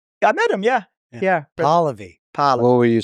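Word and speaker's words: Pahlavi: Pali. Pali. What were you saying? I thought it was Palavi.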